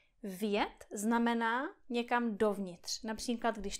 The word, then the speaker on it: vjet: Další příklad je slovo vjet. Vjet znamená někam dovnitř. Například, když tohle je garáž a tohle je auto, tak říkáme vjet do garáže. Tohle slovo má jeden vokál, e, jednu slabiku. E, vjet.